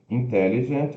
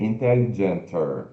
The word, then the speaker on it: intelligent: Aqui a gente já viu a escrita e a pronúncia, então, intelligent, ó, intelligent, são quatro sílabas, né? Então, não dá para fazer intelligenter, não é intelligenter, não tem o ER, é more intelligent than,